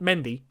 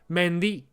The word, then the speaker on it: Mendy: by the way um he did reiterate as to how his name is pronounced it's not mendy it's mendy yeah okay got a